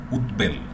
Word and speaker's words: উদ্বেল: পূর্ণ উচ্চারণটি হয়, যেমন উদ্বেল, এই উদ্বেল উদ্বেলিত উদ্বোধন, এখানে কিন্তু ব পুরোপুরি উচ্চারণ হচ্ছে, এই বিষয়টিও উদ কিংবা উত উপসর্গ যুগে থাকলে এইটি কিন্তু বয়ের পূর্ণাঙ্গ উচ্চারণ হবে।